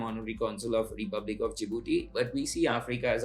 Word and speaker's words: Djibouti: First thing first is I've been dealing with Djibouti which which most of the Indian calls it calls it pronounce it Djibouti and I would like to be clear it's Djibouti and not Djibouti.